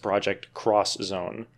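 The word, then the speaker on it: Project X Zone: am haunted by the fact that it is pronounced project cross Zone every time I read it there's a voice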